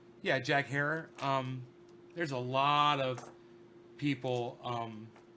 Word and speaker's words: Herer: And he's the one that said, Herer. And I'm like, oh, that's easy enough to remember. Herer. Okay. He says that's what Jack used to tell people to pronounce his name.